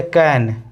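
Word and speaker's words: can: और उसी तरह ये कैन यह चैन नहीं होगा। सी ए एन है। ये हमारा चैन नहीं होगा। कैन होगा। यहां पर सी का उच्चारण क हो रहा है।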